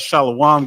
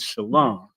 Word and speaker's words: shalom: Quick shout out to Captain Quad in the comments said, "Stop that shalom garbage. The correct way to say peace in ancient Hebrew is shalom."